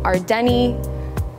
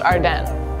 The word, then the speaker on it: Ardene: is Sid and here are some ways people pronounce Ardine Ard Deni ardi I've once heard ardan like Chardon Chardon oh my God I love Ard or ardin it's actually pronounced Arden say it with me now AR Den Jokes